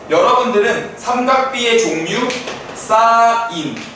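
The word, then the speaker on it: sine: 때 여러분들은 삼각비의 종류 사인 신 신이라고 읽으면 안 돼요 원죄가 아니야 알아들은 분은 굉장히 영어가 잘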